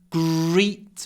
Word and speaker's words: greet: I came home G remember lips forward to get a good R sound gr greet me she didn't greet me